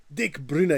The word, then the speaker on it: Dick Bruna: Hi, I'm and I pronounce Dutch words and names the way a Dutchman would pronounce them. The name of the author and illustrator of the Miffy books is Dick Bruna.